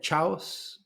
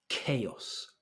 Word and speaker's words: chaos: like chaos absolute chaos so the pronunciation Kos I've heard chaos sometimes it makes sense CH of church or cheese you're thinking CH okay but in this context the CH is a c so it's chaos chaos next one here we